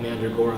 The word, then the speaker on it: Mandragora: And also, I actually have a side project called Mandragora that I will now shamelessly plug. It's spelled M-A-N-D-R-A, Mandra, and then Gora, G-O-R-A, and